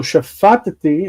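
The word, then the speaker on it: שפטתי: You say shafatati to break up the two T sounds. The accent is shifted because it's v'katal, it's a future. So shafatati, I judged, but vishafatati,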